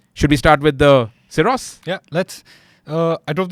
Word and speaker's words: Syros: obviously the Kia cyos oros how do you pronounce that that's SOS SOS the Kia SOS the Land Rover Defender OCTA which I drove